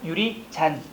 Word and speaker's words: 유리잔: 그러니까 유리짠이 아니라 유리잔.